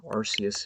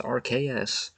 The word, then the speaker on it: Arceus: now so yeah Arceus it is for me even though I know technically the correct pronunciation is rks because it's based on the archaeus in alchemy and silvalley has the